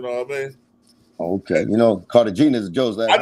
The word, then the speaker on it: Cartagena: Cartagena is actually, well, that's how you say it in Spanish, Cartagena, but in English it's Cartagena.